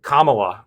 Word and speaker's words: Kamala: Look, Kamala, which is how I understand her name is pronounced, lost the last primary pretty handedly, got just destroyed.